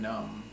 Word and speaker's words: numb: you do not feel pain that it's called numb or maybe if you're we say your hand